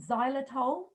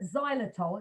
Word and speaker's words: xylitol: plant right so um there's also something called xylitol which is a sugar sugar um a sugar